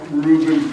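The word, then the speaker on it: Reuven: warming up here uh Reuben has glasses I guess he's they pronounce it Rain r e u ven because V's in English are VES in Hebrew and they're joshing back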